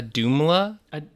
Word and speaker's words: Auðumbla: be right now a doomla i'm going to say it right it's a-u-d-m-u it's got a you the word dumb and then la at the end jacob this is you